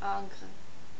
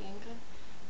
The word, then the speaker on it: Ingres: and so I said, I think it's pronounced Ingres. But it's not at all pronounced Ingres, it's actually Ingres.